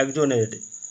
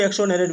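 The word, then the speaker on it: exonerate: जाएगा आपका option B एजोनेट ठीक है एजोनेट इसको कोई एक्सोनेट भी बोलेन एजोनेट इसका सही उच्चारण होगा आधिकारिक रूप से जवाबदेही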